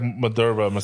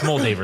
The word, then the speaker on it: Moldaver: m moldaver Lee moldaver it was like Madura like that no it's moldaver that's her name no that the way they said in the show was different no it's moldaver that's how it's said it's you're not going